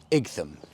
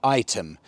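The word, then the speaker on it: Ightham: myself with place names such as eam which I found out by a lot of locals is completely the wrong pronunciation it's actually item my pronunciation was so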